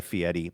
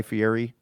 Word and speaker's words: Fieri: pronounce people's names the way that they are pronounced. So we'll call him Guy Fiieti, but for some reason that always I always struggle with that. Maybe just because I always thought his name was Guy Fieri.